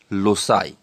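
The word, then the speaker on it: loci: বহুবচনে উচ্চারণটি হচ্ছে লোসাই।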